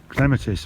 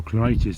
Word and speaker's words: clematis: It's a kind of wild clematis or clematis, depending on how you pronounce it.